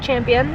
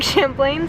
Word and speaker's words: Champlain: town i've just been informed that i've been pronouncing um lake champlain wrong it's not lake champion it is like champlain so let's just set the record straight here